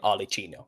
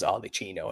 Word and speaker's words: Arlecchino: So it's Helikins is where we get Harlequin, but the Italians named him Arlecchino. That's how they pronounce it. So they pronounce Helikins as Arlecchino, and that's where we get it from.